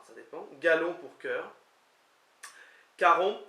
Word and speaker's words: karomp: dépend, Galon pour cœur, Caromp, qui s'écrit K-A-R-O-M-P, le P ne se prononce pas semble-t-il, qui veut dire aimons,